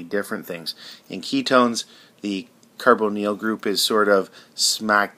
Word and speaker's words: carbonyl: Here we're talking about this carbonyl group, or carbonyl group as the British pronounce it, this carbon double bonded